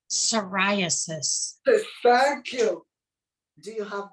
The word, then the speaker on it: psoriasis: it's difficult okay i'm going to try to pronounce it it's the press repressive sorry i sorry psoriasis no um it spells p-s-o-r-i-a-s-i-s psoriasis you cannot